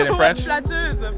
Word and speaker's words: flatteuse: Flatteuse for a female. Oh, what is it for a guy? Flatteur.